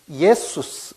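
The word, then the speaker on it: Ἰησοῦς: 이거는 영어식으로 하면은 지저스라고 말하지만은 헬라어대로 하면은 예수스 이렇게 읽습니다.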